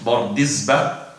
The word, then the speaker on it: Bardizbah: Now, Bardizbah, I have said it in this way because there is a difference among the scholars how to say the name, Bardizbah or Bardizbah, but I've said it according to the most authentic sources, Bardizbah, and it is a Bukhari.